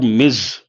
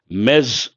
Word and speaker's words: Ms: z z mes or Miz means what it refers to a woman irrespective of the marital status ah very good Anand I appreciate that mes or Miz British mes American Miz it refers to a